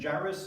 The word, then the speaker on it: Jairus: And Jairus is the right way to pronounce it.